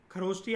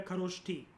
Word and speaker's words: खरोष्ठी: ठीक है, खरोष्टी आप इसको कह लो या खरोष्टी कह लो, प्रोनाउंसिएशन कैसी भी हो सकती है, खरोष्टी या खरोष्ठी।